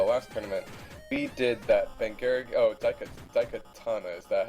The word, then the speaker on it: Daikatana: Because honestly, when I raced him in the last tournament, we did that Daikatana, is that how you say it?